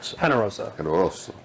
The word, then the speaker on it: Generoso: Is it Generoso, or how do you pronounce that? Generoso.